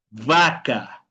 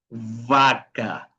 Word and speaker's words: vaca: Aquí dije que habíamos, obviamente necesitamos en portugués hacer el sonido real del sonido de la B pequeña, que le llamamos en español, ¿no? Que es un sonido labi dental. Son labi dental.